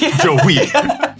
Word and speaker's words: Joey: Joey. Emphasis on the second syllable.